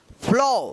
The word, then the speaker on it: flaw: यानी एक के जस्ट बाद अगर W आता है तो इस ए का क्या उच्चारण होगा, औ उच्चारण होगा।